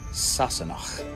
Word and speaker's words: Sassenach: Today's word is Sassenach. Means an English person or an outsider. Sassenach.